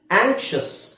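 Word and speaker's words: anxious: ಇದು ವಿಚಿತ್ರ ಅಂತ ಅನ್ಸುತ್ತೆ x ದ ಉಚ್ಚಾರಣೆ ಈಗ ಇದು ಈ ಪದದ ಉಚ್ಚಾರಣೆ ನಾನು ಬರಿಬೇಕಾದ್ರೆ ಹೆಂಗೆ ಬರೀತೀನಿ ಆಂ ಆಂಕ್ಷ ಆಂಕ್ಷ ಆಂಕ್ಷ ಅಲ್ಲ ಆಂಕ್ಷ ಓಕೆ ಸೋ ಇಲ್ಲಿ x ದ ಸೌಂಡ್ ಏನಾಯ್ತು ಕ ಮತ್ತೆ ಶ ಎರಡು ಮಿಕ್ಸ್ ಮಾಡಿ ಹೇಳಬೇಕು ಆಂಕ್ಷ ಇಲ್ಲಿ ನಾನು ನಿಮಗೆ ಇಂಗ್ಲಿಷ್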